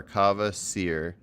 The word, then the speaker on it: Kava Seer: So Kava like Java, and then Seer like Sears Tower. Kava Seer.